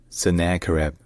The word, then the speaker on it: Sennacherib: So in English, his name is pronounced Sennacherib.